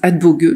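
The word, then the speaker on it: Adbåge: la nature de Emma alors ça se prononce adbog Mton appris donc maintenant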